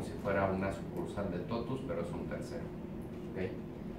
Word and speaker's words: TOTVS: de trabajo en todos de la gente se pronuncia todos entonces todos en latín y todos es una